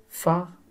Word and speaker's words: phare: Par contre, phare, on ne voit pas F, mais on entend le son F.